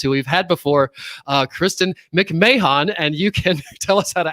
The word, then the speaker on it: McMahon: I still answer if you add the extra syllable there at the end. But yeah, I heard when I acquired this name, if you will, that it's just like Ed and Jim.